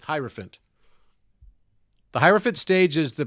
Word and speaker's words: hierophant: that there's a relationship because elephant rhymes with hierophant the hierophant stage is